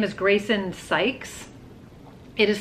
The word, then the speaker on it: Sykes: So her name is Grayson Sykes. It is spelled S-Y-K-E-S. And every time I look at it, including just this minute, I see Grayson Skies.